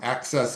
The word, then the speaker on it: AXS: college essay guide from access companion which is an awesome guide. Um it's spelled AXS companion.